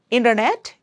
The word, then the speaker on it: internet: In US, people may say internet, it's like D sound, but don't worry about that.